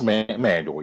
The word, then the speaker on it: Manuel: as a black male watching, young women like Simone Manuel, and did I pronounce her name correctly? Yes, manual. Yes. Manuel.